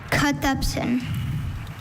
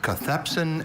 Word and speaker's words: cathepsin: Cathepsin. Are there any alternate pronunciations? There's cathepsin and cathepsin.